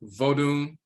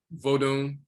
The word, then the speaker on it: Vodun: It's not Wonun or Wunun. It's, for them, it's Vodun, Vodun, and that's the origin of Vodun, to rest and draw water.